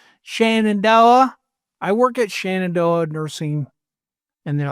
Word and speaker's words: Shenandoah: I work at Shenandoah Nursing, and they're like Shenandoah, and I can't. And I can't stop saying you guys. You're like, I gotta say Zenandoah.